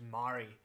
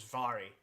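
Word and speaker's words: Mhairi: But there was a Scottish politician, and everybody, even people in Scotland, continually pronounced her name as Mary, despite the fact that it's her name is Vary. So MH is a V sound, same as in English V,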